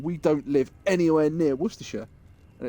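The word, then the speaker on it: Worcestershire: And it's like, "Yeah, but most people that aren't in Worersha can't pronounce Worersha." Worchester. Yeah. Wor worester shshire sauce. So I think the best one I've seen was somebody in America who called it wash your sister sauce.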